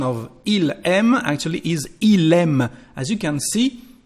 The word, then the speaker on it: il aime: Because the pronunciation of il aime actually is il aime. As you can see, the last letter of our subject become the first letter of the verb, just when you speak. So it's our liaison here. Il aime, il aime.